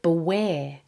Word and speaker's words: beware: The word beware also has the emphasis on the second syllable.